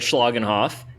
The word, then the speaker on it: Schlagenhoff: I think you said Schlagenhoff, and okay, cool. That is exactly how you say his name, and we cannot wait